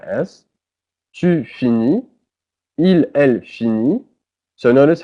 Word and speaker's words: finit: Il, elle finit. So notice how they're all pronounced the same way because the T and the S are not pronounced.